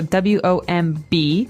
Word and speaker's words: womb: There's a B there, so W-O-M-B. We don't pronounce womb. Right. We say womb.